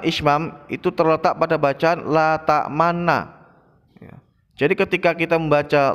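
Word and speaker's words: لا تأمنّا: Cara membacanya, qalu ya abana malaka la ta'manna ala Yusuf wa inna lahu lanasihun.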